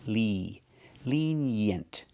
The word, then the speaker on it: lenient: We have the short S sound like eggs and bed. Yent. Lenient. Together, lenient. Put the stress on the first syllable.